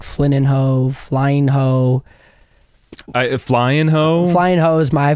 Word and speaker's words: Flynninho: But yeah, it's Portuguese. And so it's pronounced like an ene, like you would be like, you know, for like mañana in Spanish.